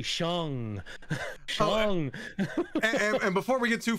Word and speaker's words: Shang: name is Noah, like it's like Shang, right, with the G on the end, like Sean, but G, Shang.